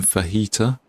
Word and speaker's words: fajita: It is one of those dirty sounding words if you pronounce it the English way and not the Spanish.